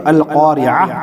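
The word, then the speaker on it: القارعة: अगर हम यहाँ वक्फ करेंगे, यहाँ ठहरेंगे तो अल क़ारिअह पढ़ेंगे, ता को हम हा बना देंगे।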